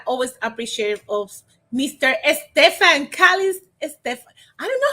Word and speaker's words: Calixte: Stephan Calixte. Stephan. I don't know how to pronounce your last name, Stephan. Welcome. Good morning. Good morning, Elizabeth. It's Stefan. Actually, it's pronounced Calixte.